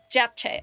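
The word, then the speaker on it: japchae: Japche.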